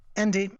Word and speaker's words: Endy: How do you pronounce that? I'm sorry. Endy, E-N-D-Y.